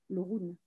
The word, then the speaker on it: Orun: Et il y a aussi un personnage qui est très important, je trouve, c'est le bateau, l'Orun. On prononce l'Orun?